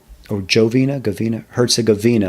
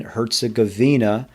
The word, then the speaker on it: Herzegovina: Commonly cited examples of liberal interventionism in action include NATO's intervention in Bosnia and Herzegovina, I believe Herzegovina. I think it's a soft G. I believe that's right. Bosnia and Herzegovina.